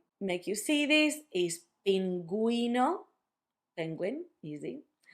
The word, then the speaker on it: pingüino: Pingüino, cigüeña. That's if you want for the U to have a sound when you have gegi.